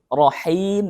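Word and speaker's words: رحيم: huruf H yang mana huruf H ini sering terjadi kesalahan yang membacanya yaitu sama persis kayak huruf H ketika kita membacanya huruf Rohim maka maknanya adalah maha penyayang tapi kalau kita membacanya Rohim maka berubah artinya menjadi rahim rahim perempuan jadi bacanya harus dari tenggorokan Tengah aliran udaranya harus jelas Bismillahirrohmanirrohim baik lanjut ke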